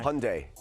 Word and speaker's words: Hyundai: carolina talk about that world cup right now hyundai hyundai hyundai that's how you say it okay